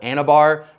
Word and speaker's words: Anabar: his protein bar is called Anabar, which rhymes with a very heavily used anabolic steroid called Anavar.